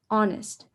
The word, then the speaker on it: honest: the underlying part um the h is silent for the word honest so you wouldn't pronounce it like honest it would pronounce like honest so because the h